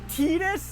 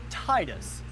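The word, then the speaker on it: Tidus: Tetus. Tetus. It's pronounced Tetus. Bro, look, I like every other single English- speakaking person out there has always pronounced it as Titus.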